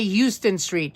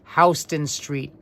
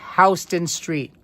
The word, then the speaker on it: Houston Street: We do not say Houston Street. No, no, no. We pronounce it Houston. It is pronounced, and I am saying it correctly, it is pronounced Houston Street, not Houston.